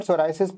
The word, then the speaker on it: psoriasis: In the word psoriasis, P is silent.